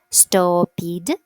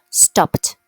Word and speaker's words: stopped: So remember, every time you want to pronounce these verbs as stop. Don't do that. It should be stopped.